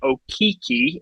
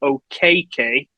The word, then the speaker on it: Okeke: So while he's originally gone by Okeke in the past, he's discovered that the actual pronunciation should be Okeke.